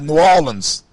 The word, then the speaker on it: New Orleans: in New Orleans uh you got to say it right New Orleans down in New Orleans no no nin nans